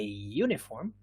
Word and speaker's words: uniform: an before vowels but uniform does not begin with a vowel it begins with a written vowel but it doesn't begin with a vowel